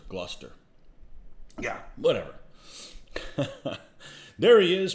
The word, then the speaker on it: Gloucester: um pronounce gloucester oh it's not gloucester gluster yeah whatever there he